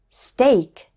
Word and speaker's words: steak: It's pronounced A like in make in the words steak, great.